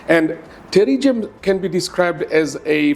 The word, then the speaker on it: pterygium: writing terri has uh P in its spelling, but it's actually pronounced with a T. So, it's a silent P. And terrium can be described as a fleshy growth on the surface of the eye.